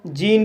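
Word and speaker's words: gene: जी को जा पढ़ा जाएगा, ई को ई पढ़ा जाएगा, एन को ना पढ़ा जाएगा और लास्ट में ई है, इसको साइलेंट किया जाएगा। इस तरह से जीन पढ़ा जाएगा।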